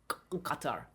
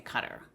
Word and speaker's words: Qatar: But that is closer to their pronunciation, which is a guttural Qatar. Qatar. We don't have that sound in the English language, and so we say Qatar.